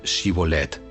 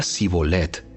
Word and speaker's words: shibolet: no no lo soy ellos le pedían que pronunciara la palabra shibolet si era de Efraín diría si bolet porque a la gente de Efraín le cuesta pronunciar bien esa palabra entonces se lo llevaban